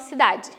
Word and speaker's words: cidade: A gente acaba pronunciando cidade, mas na hora de escrever a gente sabe que é cidade. A gente tem que completar com a vogal E.